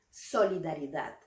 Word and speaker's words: solidaridad: Nuestra primera palabra es solidaridad. Esta es una palabra larga, entonces vamos a pronunciarla sílaba por sílaba. Solidaridad. Solidaridad. La fuerza de voz, la intensidad de esta palabra recae en la última sílaba.